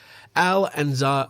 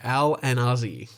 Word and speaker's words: Alanazi: by two German Shepherds Al and Za uh oh I think I mispronounced that sorry Al and Ozzy alanazi died in the